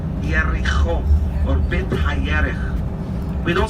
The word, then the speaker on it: Jericho: We don't say Jericho. We say in Hebrew Yericho or Bet HaYerich.